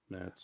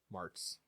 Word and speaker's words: Martz: Mets.